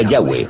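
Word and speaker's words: Yahweh: son y hw ángel y pensamos que probablemente se pronunciaba yagüe o algo así pero ya ve solo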